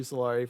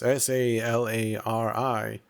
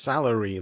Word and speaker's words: Salari: That's SALARI. And that isn't pronounced salary like everyone assumes for some reason.